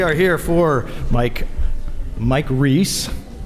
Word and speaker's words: Reiss: here for mike mike reese i have to say it right it is not rice i am your host